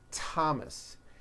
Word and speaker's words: Thomas: spelled with a th they are pronounced as if they were spelled with a normal T like that and these words are Thomas Thompson Theresa Thailand Thames